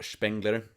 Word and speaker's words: Spengler: So, anyway, I read Spengler and um or Spengler to to pronounce it in German.